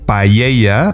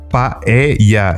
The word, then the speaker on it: paella: And there's a funny thing because everyone out of Spain says paella, and it's not like that. You're pronouncing it like it has like a double L. I mean, it's paella.